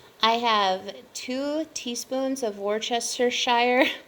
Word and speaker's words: Worcestershire: have two teaspoons of worchestershire worcestershire i think i said it right the first time but i've heard people say that all kinds of different ways um i also have